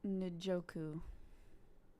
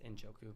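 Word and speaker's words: Njoku: will go with david nijoku is that how you pronounce that it's inchoku and joku yeah everybody in the chat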